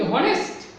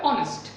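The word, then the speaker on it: honest: যেমন কি অনেস্ট, অনেস্ট, এখানে কি হনেস্ট অর অনেস্ট, তোমরা কি বলবো? কখনো হনেস্ট শুনেছো? না, এটা কি হবে, অবশ্যই ওয়ার্ডের উচ্চারণটা হবে অনেস্ট। তাহলে এখানে এইচ এর উচ্চারণ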